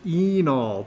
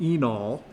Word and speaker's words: enol: That's pronounced enol. The E is long, enol.